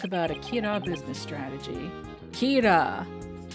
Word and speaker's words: Kira: Kira. I got it, like killer.